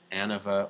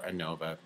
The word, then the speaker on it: ANOVA: So I'm going to go to analyze to compare means to one-way analysis of variance, also known as ANOVA or ANOVA, you know, pronounce it either way.